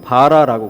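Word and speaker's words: ברא: 그런데 저 말씀 가운데 태초에 하나님이 천지를 창조하시니라 할 때 창조라고 하는 이 단어가 히브리의 원어로는 바라라고 그럽니다. 제가 원어를 쓰지는 않겠습니다. 우리말로 발음이 바라예요. 바라. 사람도 뭔가를 만들어낼 수 있고 발명을 할 수도 있고 그렇습니다.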